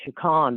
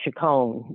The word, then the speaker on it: Chicon: 12th in chicago and i pronounced it chikon the way that we grew up saying it some say chicone now but i'm from old